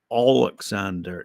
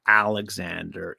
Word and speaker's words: Oleksandr: So anyway, he goes, while we're discussing facts, it's Oleksandr, not Alexander Usyk, as so many in the media have mispronounced his name.